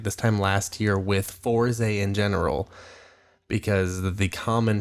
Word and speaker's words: Fourze: And it's Fourze because it rhymes with the Koze, and that was the